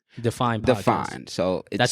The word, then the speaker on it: Deafine: Define. So that's how you spelled, pronounce it, right? Because he's saying Deafine. Yeah, it's originally the word is Define. It's define, but I put an A in it for you know my story.